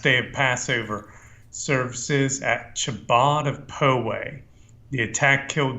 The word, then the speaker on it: Chabad: I don't want to nitpick, but it's actually pronounced Chabad for future reference.